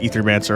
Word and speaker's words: Aethermancer: Uh, probably ether crystals since it's pronounced ethermancer, I found out, as well as to your recognition as our benefactor.